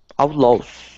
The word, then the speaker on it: outlaws: Outlaws. Instead of los, it's law. The A-W here makes an ah sound.